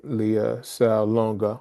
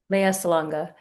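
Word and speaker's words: Lea Salonga: use the veil and the companion film with Leah Salonga? I don't know if I pronounced that right. Correct me if I'm wrong. Leia Salonga.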